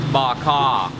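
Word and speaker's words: Bò Kho: okay okay okay so the stew is pronounced bak ha she is really really nice here and a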